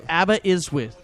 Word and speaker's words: Aberystwyth: So I could say it's Aberystwyth. Yeah, well, of course. It's the S's are pronounced Now that I see it. Z, like a Z.